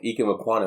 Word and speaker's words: Ekwonu: I like that, Ike Ekunwa, he had Ike Ekwonu. I always want to say Ekunwa for some reason, even though that's not his name.